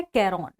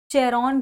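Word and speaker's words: Charon: इसे कहा जाता है कैरॉन। इसकी स्पेलिंग है CHRON, या कहीं कहीं इसे चेरॉन भी कह दिया जाता है।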